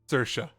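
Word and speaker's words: Saoirse: yep s a o i r s e sersa just write it however you want bro yeah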